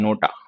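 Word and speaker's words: NOTA: लेकिन नोटा में अगर हम देखें तो इसको एज अ वर्ड प्रोनाउंस किया जाता है, नोटा, ठीक है। इसको हम एन ओ टी ए नहीं बोलते, इसको हम बोलते हैं नोटा, तो ये आ गया।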